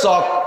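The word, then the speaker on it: chalk: কথা কন মাঝে মাঝে কই সি এইচ এল কে চল কে কয় তাই হবে না লেখে সি এইচ এল কে এল এ ল উচ্চারণে আমরা জানি আবার পড়তে যে কয় চক তাই চক কবিতা সে এল গেল ক সি এইচ এ কে চক অথবা সি এইচ ও কে চক এল লেখবা কেন লেখছো এল পড়ো চক পড়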